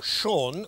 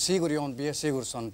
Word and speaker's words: Sigurjón B. Sigurðsson: Please welcome Sean, which is not really how you pronounce it, Sean, is it? Well, the real name is Sigurjón B. Sigurðsson, but don't Sigurjón B.